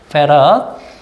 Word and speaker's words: 패럿: 얘를 뭐라고 읽는다? 페럿이라고 읽을 거예요. 예. 페럿.